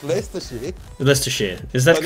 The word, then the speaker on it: Leicestershire: Leicestershire. Or Leicestershire. Leicestershire. Depends on... No, it's Leicestershire. Leicestershire. Is that But correct? it looks like it's spelled Leicestershire.